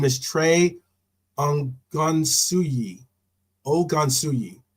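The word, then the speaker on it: Ogunsuyi: um and his name is Trey Ang gansui o gansui it's spelled o g u n Su u y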